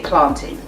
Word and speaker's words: plantain: So if you want to sound really cool and trendy, and yes, I know how to pronounce these words, say plantain.